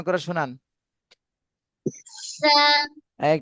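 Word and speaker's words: ث: সা টান দেন, একালিপ টান দিতে হবে, সা, হা।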